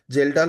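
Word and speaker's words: Kjeldahl: तो Dumas method में nitrogen सारा का सारा N2 में ले जाया जाता है और जेलडाल मेथड में के साइलेंट है इधर जेलडाल मेथड में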